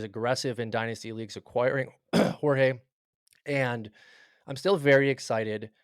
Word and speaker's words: Jorge: Carlos Carlos Jorge. Jorge. Yep. What do you think about him? And I said that right. You Imagine I did. said Georgie. Even worse than George.